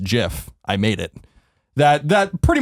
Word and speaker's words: GIF: And the creators go on and said it is pronounced GIF.